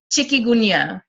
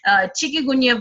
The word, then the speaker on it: Chikungunya: In Chikungunya, I'm probably pronouncing it right. This is how we pronounce it in India. Chikungunya virus, which is spread by mosquitoes.